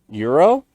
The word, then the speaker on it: gyro: and pork yeah yeah my dad corrected me he was like what is their currency in Europe and I said the Euro he's like that's exactly how you pronounce the sandwich as well Euro yeah yeah but yeah Euros all lot and there's a couple of places in town two specifically amazing Euros call gyro no it's Euro no I think it's